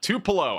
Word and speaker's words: Tupelo: Tupelo.